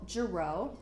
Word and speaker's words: Girot: juro it's French so the T is silent and the o is long you have my cell